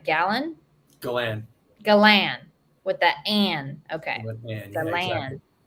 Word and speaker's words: Galan: Galan.